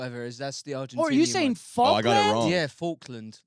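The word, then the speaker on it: Falklands: Faulland like a fork.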